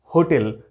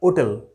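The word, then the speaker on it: hotel: সব জায়গাতে লেখা থাকে হোটেল, এখানে ভাত পাওয়া যায়, এখানে বিভিন্ন রকমের খাবার পাওয়া যায়, আমরা হোটেলটাই বলি। কেউ আমরা ওটেল বলি না, কেউ আমরা ওটেল বলি না। অ্যাকচুয়াল এর প্রোনাউন্সিয়েশনটা ওটেল। সেক্ষেত্রে আমরা কি বসাবো?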